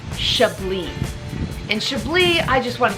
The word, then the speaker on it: Chablis: We're in northern Burgundy, and say it with me, Chablis. Beautiful. Don't pronounce that S. The French do not like extra syllables, so just take that off. Chablis.